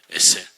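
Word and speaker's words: עזר: 요거를 히브리 말로 에셀이라고 발음을 해요. 에셀.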